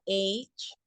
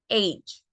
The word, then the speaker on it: age: En la palabra age, que la G se pronuncia G, age. La E tampoco se pronuncia.